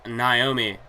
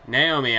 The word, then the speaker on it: Naomi: the likes of Paige Tamina snooka Emma and Naomi Naomi I should say I got yelled at in the comments section for my pronunciation of Naomi's name I would always say